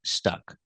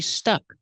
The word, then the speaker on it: stuck: And the participle is stuck. Pronunciation, when you say stick, use the short I sound like this is. Stick. When you say stuck, use the short sound like cup, and up is relaxed.